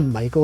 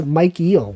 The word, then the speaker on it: Michael: Isn't it weird that Michael is pronounced like that? It looks like if someone unfamiliar with English might be like, it's Mike Eel, right?